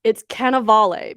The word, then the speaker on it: Cannavale: It's Cannavale.